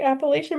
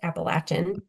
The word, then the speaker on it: Appalachian: that down south, like they say it like how you say it, Appalachian. Well, I East. would say Appalachian until I was in that area and they scolded me and told me Oh, it's Appalachian.